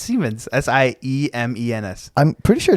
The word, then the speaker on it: Siemens: They make like Simons, like Siemens. but it's pronounced Siemens.